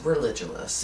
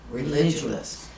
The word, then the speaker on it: Religulous: how to pronounce that it's religous it's very simple religous Religulous so instead of Bill